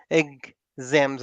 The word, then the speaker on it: exams: as papers exactly papers exams exams exams like egg in the beginning exams exams yeah exams it's really nice the